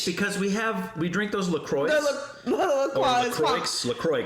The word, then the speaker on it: LaCroix: LaCroix is the right way to say it. LaCroix. Well, no, there's an X on there. I know, it's French.